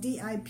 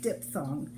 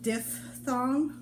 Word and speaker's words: diphthong: And it's spelled D-I-P-H-T-H-O-N-G, but it's, in America we say diphthong. And I've heard British people say it diphthong, but in America we tend to say diphthong.